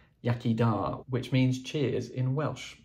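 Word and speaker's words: iechyd da: period was this set of glasses that says yakida which means cheers in Welsh by an idea that it was spelled like that the first book is one that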